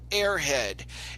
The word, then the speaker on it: Aerhead: The story is entitled Airhead, and it's spelled Aerhead.